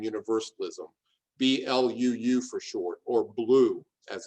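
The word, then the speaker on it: BLUU: lives of unitarian universalism b-l-u-u for short or blue as it's pronounced one of the things you'll see the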